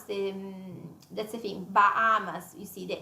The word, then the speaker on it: Bahamas: Even then, Bahamas. Yeah, we don't pronounce the. That's the thing. Bahamas. You see the H. Yeah, the H, the glorious H. Yes, it's as if it wasn't there.